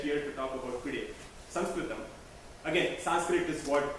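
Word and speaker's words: संस्कृतम्: the word Sanskrit and more often use SRAM which is a better way and the right way to say it and interesting thing is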